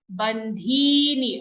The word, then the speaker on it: बन्धीनि: Mulanyanu santatani कर्मानुबन्धीनि मनुष्यलोके कर्मानुबन्धीनि no short bandhini. Okay, dhi is long but the ni after dhi is short. Okay, don't interchange the sound. Don't say bandhini, bandhini. Dhi long, ni short.